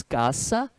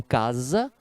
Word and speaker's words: casa: atenção DS em espanhol se diz caça e não casa caça lá caça e